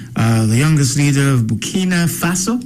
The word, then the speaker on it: Burkina Faso: Troy uh the youngest leader of Bkina Faso, that's how it's pronounced.